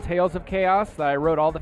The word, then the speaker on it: Kaos: looking for the game remember it's spelled k-a-o-s chaos yes two k's kaiju chaos with k's well where can people